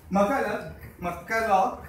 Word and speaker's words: McCulloch: I have a cheat sheet here to try and pronounce them right. But McCulloch.